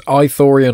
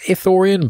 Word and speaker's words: Ithorian: him now an authorian so it's eitherion or ethorian I think it's ethorian but I've pronounced it in both different ways so they are an